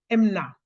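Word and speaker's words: אמונה: définition une signification hébraïque la foi en hébreux se prononce MNA MNA ça s'écrit e m u n a h ça se prononce MNA c'est c'est moins une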